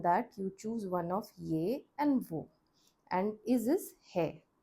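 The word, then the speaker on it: यह: In the script, it's written as yah hai. Yah hai. But again, the pronunciation is closer to this one. Ye hai. Ye hai.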